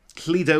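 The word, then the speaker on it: Lledo: future episode uh now Leo was I'm saying it pronouncing it Leo wellsh it could be Leo l l e d o it was founded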